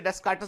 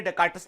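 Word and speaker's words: Descartes: ठीक है, चलिए, ever since the days of रीने डेस्कार्टस the French philosopher, क्या, ठीक है, इसको हमने जैसे डेस्कार्टस बोला था, उसको फ्रेंच प्रोनाउंसिएशन इसका होता है डेकार्ट।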